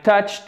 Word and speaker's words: touched: Ici, c'est un T. Ça se prononce comme un T. Touched. Le E, vous ne le prononcez pas en fait, ce qui nous arrange parce que du coup, ça fait T à la fin, tout simplement, seulement.